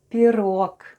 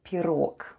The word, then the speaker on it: пирог: And all together we have пирог, with the stress on the last syllable.